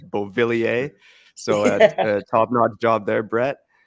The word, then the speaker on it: Beauvillier: And Beauvillier, by the way, great pronunciation. I keep saying Bolivier by accident. It's not Bolivia, like Bolivia, it's Beauvillier.